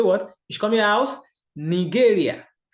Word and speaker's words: Nigeria: Ich komme aus Nigeria. It is spelled the same way, but it is pronounced differently. Ich komme aus Nigeria.